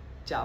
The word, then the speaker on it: चहा: खायचा आहे चहा पाव चहा पाव नाही चहा चहा आणि पाव हे एकत्र आपण करू शकतो पण चहाला आपण चहा नाही चहाच म्हणूयात तसच चमचा चमचा चमचा नाही